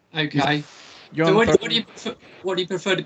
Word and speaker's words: Thorpe: It's a good pronunciation, Thorpe. Yeah, yeah, that's it. You got it. Yeah, John Thorpe.